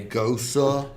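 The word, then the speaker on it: Gose: you pronounce goza? Goza, exactly like that. Goza. It's from Leipzig, Germany, and that's how it's pronounced.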